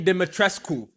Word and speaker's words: Dimitrescu: Lady Dimitrescu.